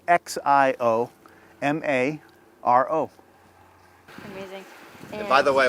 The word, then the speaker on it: Xiomaro: The X is pronounced like an S, so it's Xiomaro.